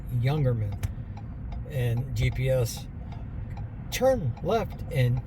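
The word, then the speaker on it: Jungermann: It's German, so it's pronounced Youngerman.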